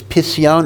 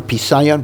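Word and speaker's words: פשיון: Expansion of Nega is Pisyon or Pisayon. Pisayon is the more common pronunciation, although grammatically it's Pisyon.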